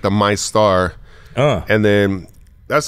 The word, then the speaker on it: Meister: Is it MyStar or Meister, like the employees? That's the Meister. Yeah, that's Meister, the Meister.